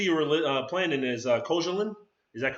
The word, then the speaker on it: Koszalin: I guess the city you were playing in is Koszalin. Is that correct? Yeah, Koszalin. Yeah. That's how they pronounce it.